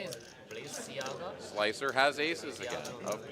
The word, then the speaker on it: Balenciaga: Oh, the pronunciation is Balenciaga.